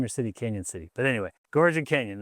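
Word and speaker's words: Cañon City: Now the railroad and the Royal Gorge, they are right by Canyon City, Colorado. Canyon is spelled without the Y. It's got the little squiggly over the N.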